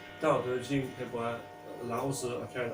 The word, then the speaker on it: Tao Te Ching: If you know a book called the Tao Te Ching, okay, Tao Te Ching, sometimes pronounced the Tao Te Ching by Lao Tzu, but it's Tao Te Ching by Lao Tzu, okay,